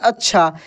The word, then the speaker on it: अच्छा: मक्खी जैसे अच्छा देखिए अच्छा अ आधा छ फिर पूरा छ ऐसे अच्छा अच्छा आधे अक्षर वाला में क्या होता है कि ये छ ऐसा लगता है कि इसका उच्चारण हो ही नहीं रहा है जबकि इसका होता है तो दोस्तों जब आप